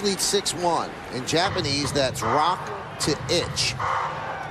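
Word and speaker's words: roku: 6-1 in Japanese that's Rock to inch the number six is rock and the number one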